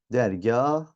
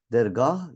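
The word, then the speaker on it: dergâh: hikayedeki k ne yapıyoruz Bunlardan sonra gelen a ve ü ünlülerini üzerine şapkasını koyacağız Dergah hikaye ona göre de okuyacağız arkadaşlar telaffuz da ona göre olacaktır Dergah ya da hikaye demeyeceğiz a'ların ya da uar uzun olduğunu göstermek istiyorsak ne yapacağız şapkasını koyup ona göre okuyacağız Dergah hikaye ya da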